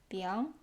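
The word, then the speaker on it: biáng: that's crazy and actually this character didn't exist it is newly created which means a type of noodle and pronounced as bian so what are the basic structs and how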